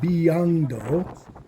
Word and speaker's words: 비양도: trying to go to Biangdo, which I just call kind of rain sheep island, because B is rain and Yang is sheep. This makes me remember how to say it.